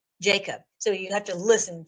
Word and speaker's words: Jakob: I think he called it Hakab. And I'm like, wait a minute, Hakab, that is the way that it is. I think it says it's pronounced in Hebrew, but it's Jacob.